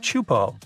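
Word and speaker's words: Teahupo'o: It's pronounced Chupo, and it means broken skulls in Tahitian. Yeah, you heard that right, broken skulls. The waves at Chupo are massive and can reach up to 23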